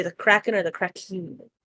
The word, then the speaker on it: Kraken: think one of my current party members, real mad beef with you say the Kraken or the Kraken? It's pronounced the Krakin.